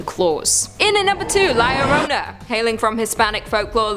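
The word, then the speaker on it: La Llorona: in and number two Larona hailing from Hispanic folklore Liona which I'm pronouncing correctly now after you guys yelled at me in a previous video is also known as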